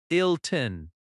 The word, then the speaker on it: Hilton: For example, Hilton Hotel. The stress is on "Hill". Hilton. Marriott has stress on "Mar".